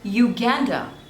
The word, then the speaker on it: Uganda: Turkmenistan Turkmenistan next is Uganda Uganda there are two slavels you Gander and the stress is on the second one Uganda Uganda Uganda next